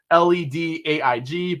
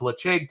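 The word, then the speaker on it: Laphroaig: so if you guys are a fan of leche 10 leche 10 year please go get it it looks like ledge 10 led aig but it's pronounced leche 10 so if you guys have yet to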